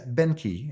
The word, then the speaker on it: Boehnke: Yes. Beni and it's spelled B O E H N K E.